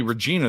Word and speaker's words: Regina: re e g i n a is definitely Regina that's how you say it but why are